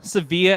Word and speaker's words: Sevilla: So, I'm in Seville. Sevilla as the locals say.